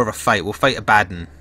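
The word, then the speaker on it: Abaddon: We'll fight Abaden or Abbadon as people call him, but I I pronounce that as a baden thanks to um my time with 40k as a kid and pronouncing it wrong then.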